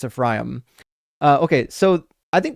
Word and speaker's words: Ephraim: I know it's pronounc it's pronounced Ephraim. You got to I apologize for all the Americans that say Ephraim. It's Ephraim.